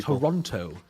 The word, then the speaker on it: Toronto: towards their own spawn firstly let's stop pronouncing the second T in Toronto okay so are we also going to start pronouncing Paris as in fact I'm going to start calling it Toronto the people who say